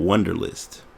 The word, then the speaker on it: Wunderlist: as a just in case and it's called wonderlist and literally it's it has an odd spelling